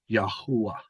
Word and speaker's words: Yahweh: And YHH is one of the earliest forms of the name for Yahweh, which the Hebrews originally pronounced as Yahuwah.